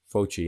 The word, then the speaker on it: Fauci: Some obscure person named Anthony Fauci, I think is how you pronounce it, Fauci, and I'm going to show his information in a second.